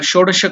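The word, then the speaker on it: षोडश: The Shodasha Kalatmane, the first sh will be whatever we are pronouncing, the yes is the murdhanya. You have to touch your tongue to the top of your mouth. So the pronunciation is sha, not sha, not the dantavya with your teeth, but it is sha, murdhanya. So shodasha. So that is sho is elongated dirgha. Sho the sh next sh is the next one.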